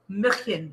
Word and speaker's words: München: So, I don't even know how to pronounce it. Hofbräu. It's Hofbräu. München. No. München.